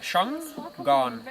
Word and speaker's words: Shangaan: I pronounce it Shangaan. Like Shanghai. Just pronounce it.